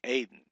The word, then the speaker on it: Eden: It's the accents on the first syllable, so it's Aden.